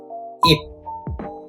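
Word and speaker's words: 잎: With the E plus P sound, it becomes ip. The right one is leaf, would be E plus P, ip. They both have the same pronunciation, but same as the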